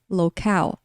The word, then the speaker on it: locale: É até parecida, né, mais parecida a pronúncia, local. Então, aí tem a transcrição fonética, né, local, com a segunda sílaba tônica, ou seja, o final da palavra que é pronunciado mais forte.